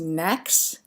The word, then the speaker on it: NAAQS: So there are something called National Ambient Air Quality Standards, NAAQS, so it's frequently pronounced NAQS.